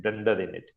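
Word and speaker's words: dunder init: called Dunder in it how do we pronounce it Dunder in it and under means double underscore so you can read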